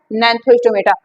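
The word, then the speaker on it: Gnathostomata: तो होता है अनथा दूसरा होता है नथो स्टोमेटा जी साइलेंट है ठीक है अगन एंड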